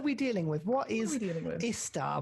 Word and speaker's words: I.S.T.A.R.: with what is istar which i definitely pronounce as i star that's that's not 100 percent or anything like that yeah i think i pronounce it i start i think because that's how patrick did it in the in the one shot but it doesn't matter